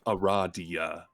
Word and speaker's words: Aradia: It's pronounced Aradia.